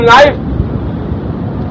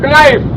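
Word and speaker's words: knife: वो बोल रहा है नाइफ और लिख रहा है कनाइफ, के भी लिख रहा है। अब शिष्य पूछता है गुरुजी इसमें के क्यों लिखते हैं आप? बोलते तो नहीं इसको। बेटा इस लैंग्वेज में साइलेंट हुआ करता है।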